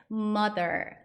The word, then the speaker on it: mother: 불리는 단어가 있습니다 그게 mother mother 할 때 마덜 아니라 th 발음이 예전에 저희에 뜨 배우신 거 있죠 그 뜨 th 뜨 발음뿐만 아니라 드 발음 있어요 번데기 발음이라고 발음기호에 에서는 번데기처럼 생긴게 있는데 그 발음은 뜨는 쌍시 발음처럼 혀를 내밀면서 양 이빨로 긁으면서내는 소리라고 말씀을 드렸다면 mother 할 때 th 발음은 혀를 내밀기 내밀어요 하지만 드 드 디귿 발음에 좀 가깝습니다 하지만 혀를 내미는 디귿 발음이라고 생각하시면 돼요 이것도 약간 연습이 필요하세요